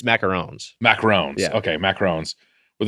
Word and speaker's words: macarons: There's macaroons and macarons. Is it 1-0 or 2? 1-0. Then it's macarons.